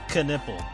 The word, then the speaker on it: Knipple: her name was miss the way she would pronounce her name was Miss knipple but given all the years of learning how to say words with a K in it where the K is usually silent of course the entire class called